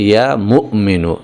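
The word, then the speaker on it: يا مؤمن: কিন্তু আসল উচ্চারণটা হচ্ছে ইয়া মুমিনু। এখানে মিমের পরে একটা হামজা রয়েছে। একটুখানি ধাক্কা হবে এভাবে।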